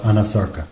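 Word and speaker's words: anasarca: did she have a condition known as Anasarka, if I'm not mispronouncing it? No, you're pronouncing correctly. She did have a condition called Anasarka.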